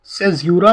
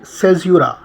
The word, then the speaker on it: caesura: देखिए, English literature में poetry को ध्यान में रखते हुए सेज़्यूरा क्या होता है, इस वीडियो में आज हम लोग जानेंगे।